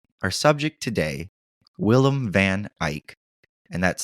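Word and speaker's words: Eijk: Our subject today, Willem van Eyck, and that's spelled E-I-J-K, and I did look that up to be positive.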